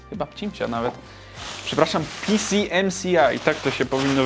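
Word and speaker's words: PCMCIA: To jest w ogóle cimcia? Chyba cimcia nawet. Przepraszam, PCMCI. Tak to się powinno wymawiać.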